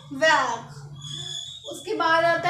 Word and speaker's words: vert: तो इसको बोलते हैं वैक। क्या बोलते हैं? वैक। तो ग्रीन को बोलेंगे हम वैक।